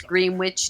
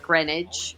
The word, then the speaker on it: Greenwich: song um you know it's green witch not grenage say it phonetically you know everybody knows